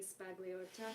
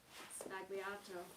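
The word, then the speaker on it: Sbagliato: going around about Negroni Spagliata. Am I pronouncing that correctly? Spagliato. Oh my god, that was so wrong.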